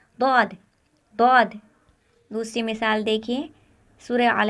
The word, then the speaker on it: ضاد: پر ادا ہوتا ہے۔ یہاں ضاد کو زبان کے پچھلے حصے سے داڑوں کے ساتھ ملاتے ہوئے تلفظ کرے۔ ضاد۔ دوسری مثال دیکھیے، سورہ